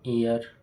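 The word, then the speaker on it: heir: An honest man an hour N honourable man एन एयर ये इसके example है। आप देखिए कि ऐसे शब्द जिनमें एच साइलेंट होते हैं लेकिन उनका प्रोनाउंसिएशन वोवेल स्वर उत्पन्न करता है।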